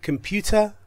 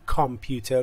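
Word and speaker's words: computer: که میبینید میدونید چیه کمپیوتر به تلفظش دقت کنید کامپیوتر نیست این ا یه صدای ا خیلی ضعیفه کمپیوتر کمپیوتر اس فون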